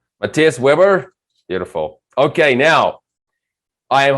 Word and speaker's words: Matthias Weber: me on the show so it's it's pronounced matthias weber so you were pretty close matthias webber beautiful okay now i